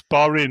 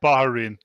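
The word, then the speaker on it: Bahrain: And it's Bahin, not Baharin.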